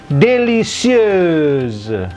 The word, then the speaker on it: délicieuse: Ya, si EUC ini bacanya EUS, S-nya menjadi Z karena di tengah dua huruf hidup.